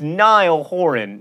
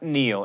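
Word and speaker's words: Niall Horan: dollar sign it's Kesha it's Nile horin not Neil and for those of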